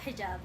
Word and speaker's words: hijab: Hijab.